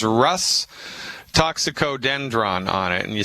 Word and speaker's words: Rhus: It says Rhus Toxicodendron on it. And you spell that R like Roger, H like Harry, U, S like Sam. R-H-U-S.